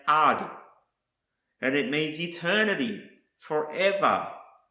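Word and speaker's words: עד: Another word I want to show you is pronounced ad, and it means eternity, forever, perpetuity, continuing future, witness and testimony.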